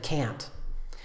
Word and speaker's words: can: can the second one the weak pronunciation is much shorter it sounds like this